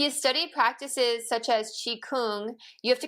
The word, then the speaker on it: Qigong: But it is Qigong. Qi, like Tai Chi, it's the other side of Tai Chi.